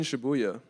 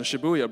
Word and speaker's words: Shibuya: Uh, Dream Girl in Shabuya, number 15. Shibuya. No. Shibuya, bro.